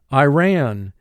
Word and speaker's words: Iran: Iran. Iran. Iran is a country in the Middle East. First syllable I, 1 sound. Ran, 3 sounds.